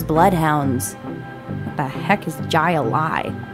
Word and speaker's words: Jai-Alai: What the heck is Jai-Alai? It's pronounced highlight.